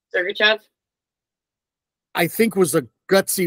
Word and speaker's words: Sergachev: Sergachev.